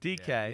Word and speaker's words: Dike: The Dike pick, the receiver. DK, yeah.